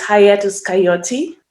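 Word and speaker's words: Hiatus Kaiyote: i always i'm always afraid to pronounce the name wrong it's hayatus coyote yeah i just hope that ney pal was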